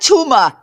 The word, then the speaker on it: tumor: There's no A at the end.